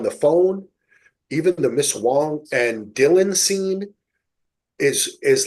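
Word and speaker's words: Huang: Is that how you pronounce Wong, Wong. not Yep. Wang. It's Wong.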